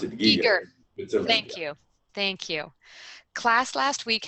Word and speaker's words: Giger: Christina asks, she says, hi Stan, I'm a big fan of Giger, and last week, Giger, they pronounce it Giger.